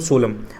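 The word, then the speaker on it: solemn: उसको बोलेंगे सीरस मतलब सोलम अच्छा वर्ड है ध्यान रखना एन लगा हुआ है दोस्तों उसमें लेकिन एन साइलेंट होता है उसको एन नहीं पढ़ते 16 में पढ़ते हैं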